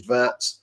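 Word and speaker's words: Wirtz: The other one which is Vert and it is a a V rather than a W.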